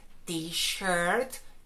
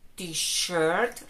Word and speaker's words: T-shirt: Camiseta sería con sonido SH, t-shirt, t-shirt. Recuerda, es un sonido suave. Sh, sh, sh.